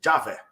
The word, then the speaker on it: Javé: Só que não é Iaé, a pronúncia antiga era Já, né? Então fica Javé.